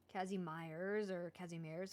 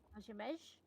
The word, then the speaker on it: Kazimierz: is, for many centuries, Kazimierz was a place where ethnic Polish and Jewish cultures coexisted and intermingled.